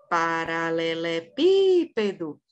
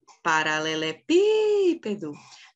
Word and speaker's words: paralelepípedo: essa palavra é a proparoxítona paralelepípedo Qual que é a última é o dó não é a sílaba forte a penúltima é o pé também não é a sílaba forte